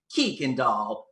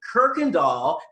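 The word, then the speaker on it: Kuykendall: know they pronounced it kikin doll kookandal koikendoll kukendo and when i would correct them and say kirkendall they would go it's not kirkendall there's no r it's kirkendall even my husband i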